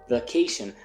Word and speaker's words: vacation: vacaciones se dice Holiday en inglés americano se dice vacation aunque se escribe con a se dice vacation aguas on vacation hables